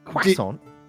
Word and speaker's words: croissant: Quasson.